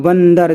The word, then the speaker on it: बंदर: है ना है तो इस जो ये जो अनुस्वार है इसका जो उच्चारण होगा वो ना निकलेगा बंदर देखिए ना निकल रहा